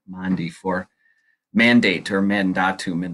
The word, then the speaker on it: Maundy: the pronunciation of Maundy it's not Monday it's Mondi Maundy for mandate Herman Dom